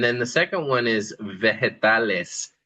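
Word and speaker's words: vegetales: There's two words really, verdas and then the second one is veretales. And notice that the g there is not a hard g, but more like an h.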